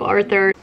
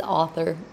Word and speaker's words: author: book title the book arthur i cannot believe that i just pronounced author arthur i had to get on here and say something it's author and um if you